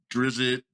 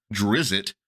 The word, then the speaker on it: Drizzt: our favorite Ranger name they do have a scene in sojourn where little boy calls the character drizzit which it is understood by the context but that is not